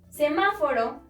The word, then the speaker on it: semáforo: Semáforo, podemos encontrar la sílaba tónica en ma, es decir, la antepenúltima sílaba, y debemos acentuarla siempre.